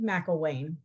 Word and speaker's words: McElwain: Yes, it's difficult to pronounce. Oh, I didn't say it correctly. Say it again. McElwain.